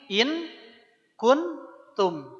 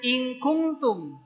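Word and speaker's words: إن كنتم: ada kata begini ini in kuntum bacanya bukan inktum nah kalau ketemu Kaf Ka dia memang lebih terdengar engnya tuh Ink karena kita siap-siap ngucapin huruf ka ingku ingku ya kalau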